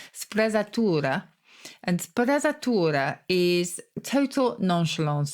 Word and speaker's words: sprezzatura: And there's a lovely Italian word, actually, which is called I'm giving it a German pronunciation there, sprezzatura.